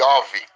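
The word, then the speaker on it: איוב: João no hebraico significa ou melhor dizendo se pronuncia e houve y o v e Houve essa é a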